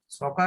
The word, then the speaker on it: soccer: সকার হচ্ছে এক জাতীয় ফুটবল গেম আর কি। উচ্চারণটা সকার হবে, হ্যাঁ, অনেকে হয়তো সসার বলে, জি স্যার। উচ্চারণটা সকার হবে।